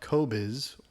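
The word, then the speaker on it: Qobuz: called I presume PR it's pronounced Kobiz. I don't know if that's truly how it's pronounced. It's spelled Q O B U Z which is dumb. Uh, it is allegedly named after a Mongolian instrument which is spelled K O B I Z, which is how I'm assuming the pronunciation is that.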